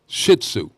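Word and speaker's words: Shih Tzu: the she she shiu is that how you say it the dog yeah shihu shitzu yes oh okay the dog may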